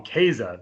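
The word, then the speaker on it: Kaše: so for me like i look at that the german pronunciation i might even call him casa like you know that's how we would say it in german uh you know or or as americans case andre case but i've been uh doing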